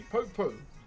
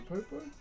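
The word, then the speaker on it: poupou: Okay, next one is a popo.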